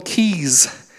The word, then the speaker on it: Quay: to the water here we don't call those quays we call them keys so when Paul Cormier and company called they're mispronouncing the term and that includes the guided invented Quay it actually is key and it fits in